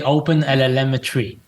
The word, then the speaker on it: OpenLLMetry: I say open lmetry. I'm Yeah, you hear the M cuz it sounds like open telemetry, but open telemetry.